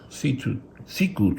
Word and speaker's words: Siku: That's pronounced Siku truck.